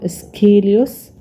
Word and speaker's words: Aeschylus: السي والإتش ننطقها كا سكيليوس. How was Aeschylus killed?